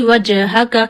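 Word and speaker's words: وجهك: Jim is also a qulqalah letter, so when jim becomes sakin, you clearly show movement in jim voice.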